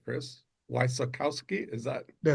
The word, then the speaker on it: Wysokowski: Chris Wissakowski. Is that That's it. Wakowski. Perfect. So, let's start with you kind of telling me the the Chris Wissakowski story and what we're hopefully going to work on today.